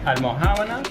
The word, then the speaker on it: Almojábana: So this, what is it called? Almojábana. So Say it, mate. Almojábana. Almojábanas. Habana, like Havana.